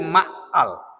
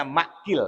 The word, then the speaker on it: Ma'qil: Dan dari Ma'qal, ada yang bacanya Ma'qil ya. Kalau di sini harokatnya Ma'qal. Ada yang bacanya Wa'an Ma'qil bin Yasar. Kalau menurut harokat di sini Wa'an Ma'qal bin Yasar ya. Ya udah kita ikuti harokat di sini aja.